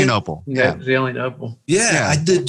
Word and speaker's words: Zelienople: Yeah, Zelienople.